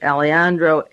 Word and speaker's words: Alejandro: Diaz Alejandro, A-L-E-J, the J is silent, Alejandro, A-L-E-J-A-N-D-R-O, from the Council